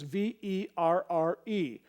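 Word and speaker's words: verre: One is V-A-I-R and the other is V-E-R-R-E. Both are pronounced ver.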